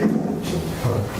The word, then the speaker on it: avolition: Avolition.